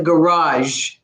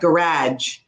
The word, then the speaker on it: garage: One of the ones that I always say is garage. Put the car in the garage, not garage. Okay, that's American. So that's it's just American.